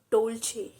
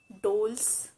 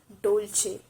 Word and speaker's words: Dolce: of these pronunciations are correct one is american pronunciation and the other is british pregnancy so the last word for today is dolce dolce it's not dolls it's dolce you might heard about dolce gabbana it's a